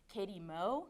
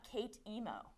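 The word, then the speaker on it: k8em0: that's my Twitter handle that is a zero it's pronounced Katy mo not Kate emo that not how it's pronounced and I get told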